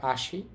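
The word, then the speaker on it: 足: তো সিঙ্গেল কাঞ্জিটা থাকলে আমরা বলব আসি। আসি হচ্ছে পা।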